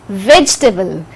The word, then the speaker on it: vegetable: it is two cylinders you can say vegetable vegetable so e is silent it's vegetable so sir full max to